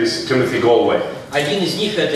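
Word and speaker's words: Gallwey: His second name is Galway. Его фамилия правильно произносится Галвей.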